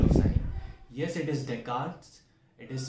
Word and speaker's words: Descartes: Yes, it is Descartes. It is spelled as Descartes.